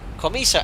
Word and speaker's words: Comiso: this and again so commisa Accent on the first though okay right now